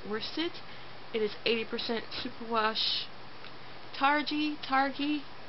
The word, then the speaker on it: Targhee: It is 80% superwash targhee. How do you say that word? It's Targhee. I don't know if it's a hard or a soft G, but it's 80% that, and it is 20% silk.